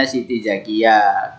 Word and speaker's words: Siti Zakiyah: yang bernama Siti Zakiyah atau tulisannya sitija gadget Tapi bacanya Siti Zakiah kemudian menikah lagi dengan